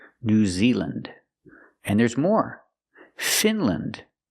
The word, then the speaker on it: Finland: Again, we're pronouncing them with the short sound, lind. Iceland, Greenland, New Zealand. And there's more. Finland, Poland, Switzerland.